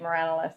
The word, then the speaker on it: Myranalis: I'm forever going to be Myranalis at this point.